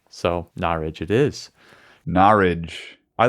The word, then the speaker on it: Norwich: And this is Mike from Norwich, but he wrote in and said that's pronounced Norwich. So Norwich it is.